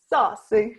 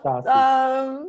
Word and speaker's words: Sassi: Let me say it right. Saucy, yeah. Sassi. I love it when you say it.